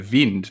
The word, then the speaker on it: Wind: do the honors well i believe it says uh vind but you can never really know with these uefa pronunciation guides they can tend to be a little bit a little bit dodgy but we'll go with vind i think we'll go with jonas vind and and if if